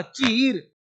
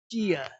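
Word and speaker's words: cheer: इया अब देखो इसे टी ए से च डबल ई से ई आर से र चीर नहीं चियर। चियर्स बोलते हैं।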